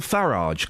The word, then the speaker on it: Farage: Heroes bands there's even Nigel farage cuz that's how it's pronounced apparently wearing a health yeah